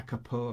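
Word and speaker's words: capo: same as putting a Kapoor across if I put a Kapoor cross there not careful guys I know you Americans like to say it wrong so we got this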